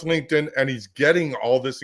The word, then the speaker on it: LinkedIn: like LinkedIn they'll say link it in but he does that on purpose and then everyone starts commenting you don't know how to pronounce LinkedIn and he's getting all